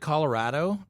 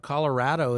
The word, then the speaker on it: Colorado: Oh, What about but at Colorado? Colorado is actually pronounced Colorado, not Colorado.